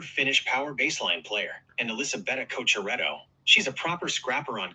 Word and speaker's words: Elisabetta Cocciaretto: Haha, I've got you covered on the pronunciation, Gary. That's Emil Rusuvori, proper Finnish power baseline player, and Elisabetta Cocciaretto.